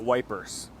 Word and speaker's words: Ypres: pronounced eer of course the British who fought here didn't use either name they called it wipers eer is best remembered